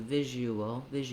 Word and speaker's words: visual: We end up with a little bit of a w sound. You won't see it in the dictionary in the IPA, and you don't need to pronounce it intensely, not you wool. You don't have to fully close the lips and release them, but just naturally link those two, visual, and you'll hear